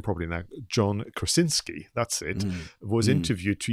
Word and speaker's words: John Krasinski: So you had a situation where the director, I'm going to try and pronounce his name properly now, John Krasinski, that's it, was interviewed to even do a breakdown of scenes.